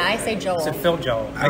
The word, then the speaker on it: Joel: You say it as one or two syllables? Joel. Phil Joel. You kind of say it as one syllable. Yeah, I say Joel.